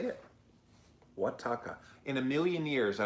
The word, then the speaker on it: Oaxaca: Oaxaca. Oaxaca. Is that how you say it? Oaxaca. In a million years, I would have never come up with that pronunciation, Naughty Bits, but thank you for that.